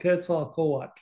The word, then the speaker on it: Quetzalcoatl: Yeah, nobody pronounces that one correctly. I had to teach my family and I are about the only ones that pronounce it. It's called Quetzalcoatl. I would always say Quetzalcoatl,